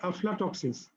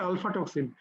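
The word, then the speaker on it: aflatoxins: টক্সিনস, কিছু টক্সিনস আছে যেটা তোমাকে বলে আফলাটক্সিনস। তোমাদের অনেক সময় পরীক্ষায় হয়তো উচ্চারণ করা হচ্ছে আলফা টক্সিন, আলফা টক্সিন কিন্তু না, এটা হচ্ছে আফলাটক্সিনস।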